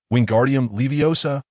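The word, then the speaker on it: Wingardium Leviosa: like a windmill, shouting, "Wingardium leiosa." My head was aching from the noise. So I quickly reminded him, "Dude, you need to stretch that gar out and make sure to pronounce OSA clearly.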